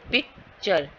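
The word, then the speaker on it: picture: पिक्चर, pick पे stress है, चर पे नहीं है।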